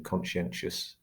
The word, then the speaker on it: conscientious: It's So if you think of conscientious, for example, that final vowel sound in conscientious is an that's a schwa sound.